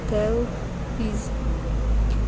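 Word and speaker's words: Thales: by aristotle for example when pronouncing his name we say tell he's emphasizing the first syllable there may have been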